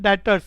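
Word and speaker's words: debtors: क्रेडिटर्स का उल्टा बच्चों डेटर्स, स्पेलिंग बच्चों डेप्टर्स की है, लेकिन प्रोनाउंसिएशन डेटर्स भी साइलेंट होता है।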